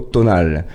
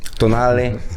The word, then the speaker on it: Tonale: On va commencer par celle-là, l'Alfa Romeo Tonal. Donc elle a été présentée au salon de Genève. C'est un SUV compact de 4 Habillé comme t'es, tu pourrais le prononcer correctement au moins. Tonale. Ah, voilà, on veut l'accent.